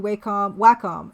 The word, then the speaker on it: Wacom: Yeah, well, Old School J, Wacom makes good technical hardware.